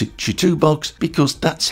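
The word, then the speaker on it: CHITUBOX: them since then and apparently it is Chu box which means fast horse toolbx or thereabouts in traditional Chinese so I got that one wrong anyway in preparation I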